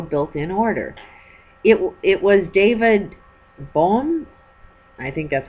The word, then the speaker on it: Bohm: It was David Bohm, I think that's how you pronounce his name, B-O-H-M if you want to